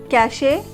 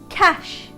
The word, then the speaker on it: cache: Cachet, sachet. Why? Because of its spelling. C-A-C-H-E, say. So, cachet? No. The correct pronunciation will be cash. Cash. C-A-H. Cash. S-H. Cash.